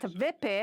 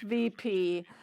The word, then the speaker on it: WIPI: of your founders, and he told me that VIPI, as I pronounced it, was not correct. And he said, no, it's VP. And maybe VP is more French, VP is more English.